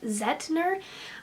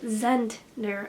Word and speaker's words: Zentner: I've mentioned this book I've been saying Jeff zehetner and it is that Jeff Zentner I forgot there was an end there so just I apologize